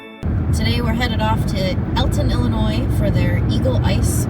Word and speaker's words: Alton: especially if you're local, that I have somehow mispronounced the name of this town. It is not Alton, Illinois, which is what I say every single time you watch this back. It is Alton, Illinois, which I know it's spelled with an A.